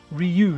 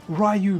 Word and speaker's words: Ryu: Ryu, yeah, is it Ryu? We always called it Ryu, man. That's how we called it in the UK. It was Ryu. Then I heard, yeah, it was Ryu, as people say it. But I kind of try and stick to my origins, man, even if they are incorrect.